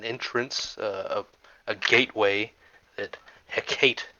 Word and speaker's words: Hecate: Um, and that is uh a channel uh an entrance uh a gateway that Hecate uses or however you you pronounce it. I like Heate, but people do Hecate.